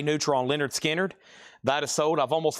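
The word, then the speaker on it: Lynyrd Skynyrd: and Leonard Skard pronounced Leonard Skard VG minus $9.99.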